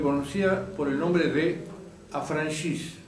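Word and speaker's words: affranchis: A estos mulazos se le conocía por el nombre de Afranchis. Afranchí es el sabe bien pronunciado.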